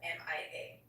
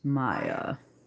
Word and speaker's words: Mia: speaks, he says, it is spelled M I A. Americans and most people worldwide pronounce that Mia. For the sake of this story, it is always going to be pronounced Maya, which by the